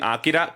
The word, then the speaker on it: Akira: In Japan, the R, they don't really have a good R sound, so it sounds like the Spanish R a little bit, where they roll it, or it even sounds like an L.